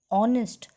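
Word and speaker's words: honest: देखिए, जब हम आर और ऑनेस्ट को बोलते हैं उसके साउंड पे ध्यान दीजिए। जब मैं आर ऑनेस्ट प्रोनाउंस कर रही हूँ तो उनके साउंड में ओ आ रहा है और ओ वावल है, इसलिए मैंने इनके आगे ए एन एन लिखा है।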